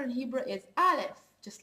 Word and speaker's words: Aleph: Now Aleph, it's not like Alif, it's Aleph, and I want you also to concentrate on the differences between the languages and learn them separated.